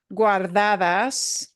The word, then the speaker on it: guardadas: We had a word guardadas. Yes. Guardadas. And GUA, we pronounce all of those sounds.